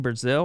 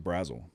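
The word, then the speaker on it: Brazzell: Brazil? I always called him Brazil. I think it's Brazel.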